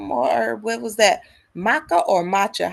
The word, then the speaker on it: maca: Maca or matcha? How do you pronounce that?